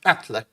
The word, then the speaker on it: Atle: It looks like Atle, but it's pronounced Atle.